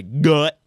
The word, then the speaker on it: Farragut: Hospital Corpse schools in Farragut. Uh, you can't you can't roll that gu. You got to say fair. Yeah, you got to say Gut. That's a hard G.